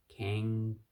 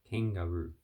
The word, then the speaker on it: kangaroo: So can, like can, I can, ga, there's no word in English that says ga, or garbage, like rubbish, garbage. Roo, long vowel, two O's, long vowel. Kangaroo. So the A are short vowels. Kangaroo. You can say kangaroo. That can also be a long vowel, but most of the time it's a short vowel.